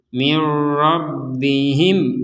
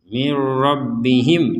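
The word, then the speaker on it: مِنْ رَبِّهِمْ: jangan sampai mirbihim mirbihim tidak ini tidak menggunakan dengung kita lanjutkan di sini ada mim sukun bertemu dengan huruf w sama dengan kedudukannya seperti ini mim sukun bertemu dengan huruf ya ini bacanya jelas jadi mirbihim waul dan seterusnya mirbihim jangan sampai dibaca dengung mirbihim nah seperti itu jadi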